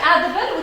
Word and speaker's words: edible: If I have the word edible, which is tricky. Edible. Edible. This is my suffix. So what am I going to stress? The first one.